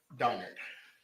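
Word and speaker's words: Donnard: right thank you it's it's Don not dard donard I need to apologize mispronouncing your name best two years what is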